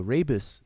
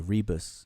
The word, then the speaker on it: rebus: The rebus. Some people pronounce it rebus, but it's the rebus principle, rebus principle.